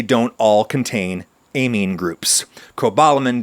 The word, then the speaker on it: cobalamin: Cobalamin does not contain an amine group, which is why it would be technically incorrect to pronounce it cobalamin, as if it has a silent E on the end.